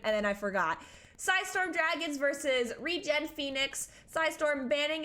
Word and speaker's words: Dragoons: Wait, just a heads up, it's Dragons. You know what? I asked him. I said, is it Dragons? Dragoons? What is it? And he said, no, it's just Dragons.